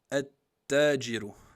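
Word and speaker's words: التاجر: Le ta, on va dire at-tajiru. Vous voyez? C'est comme, on a dit que le lem, on ne le prononce pas. Et on rentre dans la shadda directement. Donc, on va dire at-tajiru.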